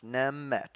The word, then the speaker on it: Nemegt: uh Waters of the Nemegt as far as how I'm going to pronounce it. It does seem like that G is silent, and then it's kind of in two parts, Nemegt.